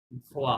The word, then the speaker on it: voit: ও আই ও এন, ইলেল ভোয়া হবে, ও এন তে silent, voit this ভোয়াটা sound.